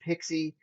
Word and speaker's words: PKCE: into great detail about pixi it's pkce it's pronounced pixie it's an extension to oauth that allows us